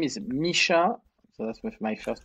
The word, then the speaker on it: Micha: again just for listeners i don't want to mispronounce it hi mike so my name is misha so that's with my first name and last